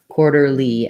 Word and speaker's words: quarterly: And then my TER, this T is a flap, so it sounds like a light D. That ER is the sound. First syllable stress though, so that second is kind of shorter. Quarter, quarterly. And then the L, Y is an L and a tense E sound.